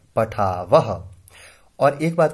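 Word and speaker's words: पठावः: मानो यहां विसर्ग नहीं होती तो हम इसे बोलते पठाव, लेकिन यहां विसर्ग है तो हम इसे उच्चारण इस तरह से करेंगे पठावह।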